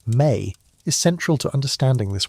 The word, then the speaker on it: me: The concept of the mi, pronounced may is central to understanding this worldview.